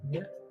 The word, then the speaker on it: Mia: Mia, that's how it's pronounced, Pablo. Mia.